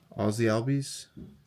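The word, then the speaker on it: Ozzie Albies: Randy Arosara, Aussie Alb, that's how you pronounce that.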